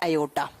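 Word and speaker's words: aorta: इससे जुड़ती है अयोटा। ठीक है, आर यहां साइलेंट रहते तो इसे ओटा प्रोनाउंस करते हैं या अयोटा लिखते हैं, जो भी आप लिखो।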